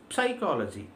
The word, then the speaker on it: psychology: l o g y but if you look at the pronunciation of the word we don't call it as psychology p never makes a sound in the word we just start with yes say yes y c